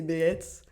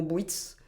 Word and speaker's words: Beetz: Et mon nom de famille, c'est Beetz. Et ils n'aimaient pas le prononcer, ou ils n'arrivaient pas à le prononcer correctement. Et du coup, ça a dérivé en Bwitz.